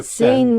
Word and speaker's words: Seine: Kathy. Pronounced S-E-N. Okay. Seine River. Okay, that's pronunciation.